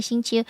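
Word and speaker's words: 行秋: Oh, and not phonetically xing qiu. Yeah, I don't get it. Qiu. Qiu. Xing qiu. It ain't that hard, man.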